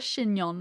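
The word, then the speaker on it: chignon: a what t fancy it's called a shinon right that's how it's pronounced oh yeah maybe I assume it's not pronounced Shon or Chon Chon knot in her hair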